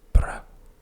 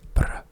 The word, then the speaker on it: brød: And just a quick word, the O with the dash, as you can see it here, is the sound so here it's brød, and the R's have a specific way in the way they sound.